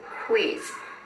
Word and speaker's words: quiz: 자, U는 밑에 파란 글씨로 적어놨는데 U는 소리가 나지 않습니다. 그거 숙지해 주시면 되고요. 자, 이 발음은 quiz.